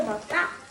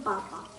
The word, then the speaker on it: papà: Qui c'è scritto papà e io scrivo. Però qui è papa. Ci vuole l'accento, sai cos'è l'accento? Non lo so. Dammi qua. E questo è l'accento. Non papa.